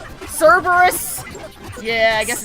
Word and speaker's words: Cerberus: I said Cerberus. Cerberus. Yeah, I guess it's Cerberus. There is that other R.